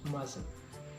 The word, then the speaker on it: mustn't: And sometimes negative for must to is get distraction to mustn't. T in the middle is silent.